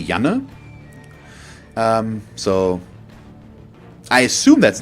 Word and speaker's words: Janne: So it's written Janne, which, if I would pronounce it English, would be Jenny or something like that, but I assume it's a male name since you're a random boy, and the German in me wants to say Janne.